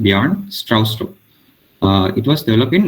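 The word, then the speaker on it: Bjarne Stroustrup: was uh developed by the arn it's pronounced pronounced beyond strauss uh it was developed in 1979 so this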